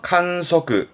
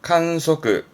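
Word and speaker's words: 観測: 발음은 칸사즈, 칸사즈. 그렇죠. 측자죠. 관측하네요. 칸소크, 칸소크.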